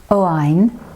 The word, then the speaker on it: Owain: Please note that the boy's name, Owain, is pronounced more or less as Owen.